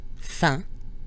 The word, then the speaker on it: fin: Fin, F-I-N, has the nasal combination I-N, pronounced in. Fin. This is the same sound we heard in the word for exam in the previous lesson, examen.